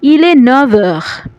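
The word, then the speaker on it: Il est neuf heures: দর্শক লক্ষ্য করবেন এখানে কিন্তু এফ আছে, হ্যাঁ, নফ যখন এর সাথে যোগ হচ্ছে তখন কিন্তু আমরা উচ্চারণ কী করছি? ইলে নভর, ইলে নভর, অর্থাৎ এফ এর উচ্চারণটা ভি এর মতো হয়ে যাবে।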